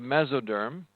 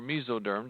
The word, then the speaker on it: mesoderm: to become the ectoderm the middle layer is called the mesoderm or miso derm depending on how you say it and then the